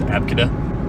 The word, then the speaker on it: Abcde: it's ABCD or was Abka? What? Some somebody named their kid Abka, but it was spelled ABCDE.